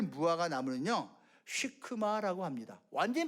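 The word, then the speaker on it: שקמה: 그리고요, 요 돌 무화과 나무는요 시크마라고 합니다. 완전히 발음 다르죠.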